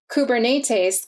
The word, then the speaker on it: Kubernetes: optimizing that last phase the name kubernetes comes from the greek and is pronounced kubernetes it translates to captain